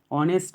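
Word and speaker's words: honest: B, mister Sen is dash অনেস্ট ম্যান। এখানে দেখো শূন্যস্থানের পরের অক্ষরটা কি এইচ, এইচটা হচ্ছে কনসোনেন্ট, তো এখানে বসার কথা এ, কিন্তু এখানে এইচের কোনো উচ্চারণই হচ্ছে না, অনেস্ট উচ্চারণ হচ্ছে, তাই ওটাকে আমাদেরকে কিন্তু নিতে হবে।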